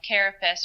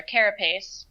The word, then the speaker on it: carapace: So when you're measuring the carapace or carapace, I've heard it pronounced both ways, if the back exceeds 5 inches, then male or female, the lobster gets thrown back.